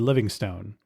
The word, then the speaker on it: Livingstone: explorer and missionary David Livingstone, who hadn't been heard from in 6 years. I've also heard his name pronounced Livingston more commonly, so I'll go with that.